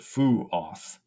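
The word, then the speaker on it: Fuath: It says to pronounce it Fu-oth, but I think it's Fuah.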